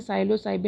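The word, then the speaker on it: Psilocybe: इसमें जो पीस है इसकी स्पेलिंग में वह साइलेंट होता है इसीलिए हम इसे शैलो साइड बोलते हैं पहले साइड यह 200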